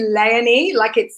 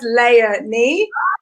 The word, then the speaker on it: Leonie: It's actually Leonie. I say it's like Princess Leonie.